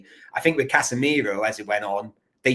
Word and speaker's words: Casemiro: When he played at Sao Paulo, do you know his name isn't actually Casemiro? It's actually Cassie with an I, Miro.